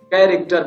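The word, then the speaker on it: character: अब अगर सी के बाद एच आ जाए, और कहाँ कहाँ, सी के बाद एच आ जाए, क्या, सी के बाद एच आ जाए, तब पर भी एच का साउंड साइलेंट हो जाता है, सी के बाद। ठीक है ना, तो देखिए यदि सी के बाद एच आया, इसको कैरेक्टर नहीं पढ़ते हैं, क्या पढ़ते हैं, कैरेक्टर पढ़ते हैं।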